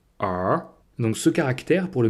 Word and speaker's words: 儿: Et cette forme-là, c'est aussi un caractère qu'on trouve parfois seul et qui se prononce R.